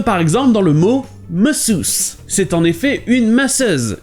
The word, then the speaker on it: masseuse: A masseuse. Comme vous pouvez l'entendre ici, le A au début se prononce E, et tous les S se prononcent SE.